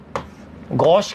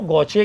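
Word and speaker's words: gauche: तो मैंने एक गौचे तो ये बना दी, गौश कह दो, गौचे कह दो, ये एक तो प्रोनाउंसिएशन में इतना ज्यादा दिमाग नहीं लगाना है, गौश कहते हैं वैसे तो, है ना, गौश।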